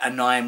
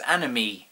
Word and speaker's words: anime: pronounce as free I was pretty adamant that anim was the correct pronounciation of anime uh to the point where